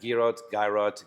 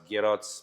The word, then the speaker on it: Girot: So think about the Giro d'Italia, and that's the best way to pronounce it, Giro. Okay. So there you go. But here I had everything. I had Girot, Girots, whatever.